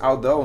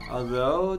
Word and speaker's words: although: What does although mean? Although, talvez seja embora, né? Embora. Yeah. And the pronunciation is although. Although, yeah. Though. Although. The tongue, like the, although.